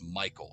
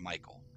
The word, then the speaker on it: Michel: it's spelled so weird it looks like it says Michel delving but it's Michael it's pronounced Michael uh stadle and Thoren